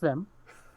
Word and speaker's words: Vim: It's just Vim. There's only one syllable.